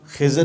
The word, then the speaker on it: خضر: خضر اس لیے پڑا، یاد رہے کہ اس کا صحیح تلفظ خضر ہے، خا کی زبر کے ساتھ اور ضاد کی زیر کے ساتھ، ہمارے عرف میں خضر کہا جاتا ہے۔ کہا کہ ان کا